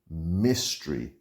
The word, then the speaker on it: mystery: able to accept the mystery pronunciation here like history mystery my finally knock on Mrs.